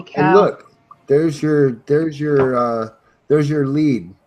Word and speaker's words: Lead: And look, there's your lead right there, or lead. Well, it's pronounced lead. Okay, lead. L-E-E-D is how it's pronounced.